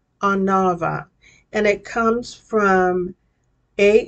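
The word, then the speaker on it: עֲנָוָה: all right humility in the Hebrew it is pronounced anava anava and it comes from a and u meaning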